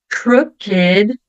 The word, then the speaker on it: crooked: bom sempre tem exceções então aqui a palavrinha naked crooked Wicked elas vão ser pronunciadas ou Ed Mesmo não tendo a terminação com a letter d ou com a letter t tá então naked crooked